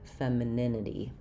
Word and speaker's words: femininity: Uh you can think of this syllable as an i or even an fem f doesn't matter. It's just very reduced, not a clear syllable.